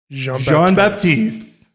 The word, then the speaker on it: Jean-Baptise: Jean-Baptise. Did I get it? Yeah, you got it. You got it.